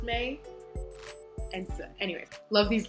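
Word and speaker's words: Mai: weird pronunciations like mei is spelled m-a-i but if you were gonna in pinyin that should be pronounced my like if you were gonna write it in opinion it should be m-e-i to be pronounced may and so anyway love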